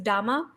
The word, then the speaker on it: dhamma: the religion it meant teachings so it's parallel pronunciation in Pali is dhamma and so dhamma meant teachings of Buddha and